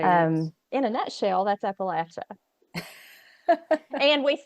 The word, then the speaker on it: Appalachia: region especially in the central and southern parts will say Appalachia and they will die on that mountain it you don't say it any other way okay there's a there's